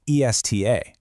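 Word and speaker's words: está: Take esta, pronounced e s t a. It simply means this in the feminine form. But, add an accent mark and shift the emphasis to the second syllable, esta, pronounced e s t h a.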